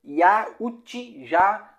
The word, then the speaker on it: Yautja: Os Yautja, que se pronuncia Yautja, são conhecidos como predadores ou caçadores.